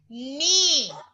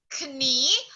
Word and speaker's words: knee: It is called as knee. Okay? What's the name of that? Your Knee. knee, right? It is not pronounced as knee, but it is knee. You will not say the letter K.